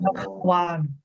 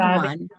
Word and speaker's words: भगवान: So this is confusing, right? Bhagwan and Bhagwan. Bhagwan. Mm. Bhagwan is different. Bhagwan is different. You see that the pronunciation is different. Bhagwan. भगवान. Just check. Bhagwan, Bhagwan, भगवान Bhagwan. Okay. Bha and B. Both are different.